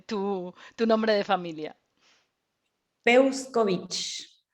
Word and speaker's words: Peuscovich: un apellido peculiar y curioso como cómo se pronuncia tu nombre de familia busco vinci o sea que luz peuscovich muy bien tiene